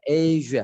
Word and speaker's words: Asia: Asia itu bacanya Asia. Asia. Jadi ditiup.